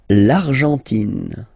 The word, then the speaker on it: l'Argentine: L'Argentine. Okay, so you've got this nasal here, en, l'argent, and then tin. Don't pronounce the final it just gives you the pronunciation of the N, in.